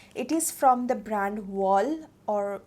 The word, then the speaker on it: Wahl: It is from the brand Wall, or Well, WAHL. Just pronounce it for me, okay?